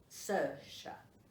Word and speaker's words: Saoirse: Robbie lives with a girl called Saoirse. She's a psychiatric nurse. Saoirse. That's how it's pronounced. But it's spelled S-A-O-I-R-S-E.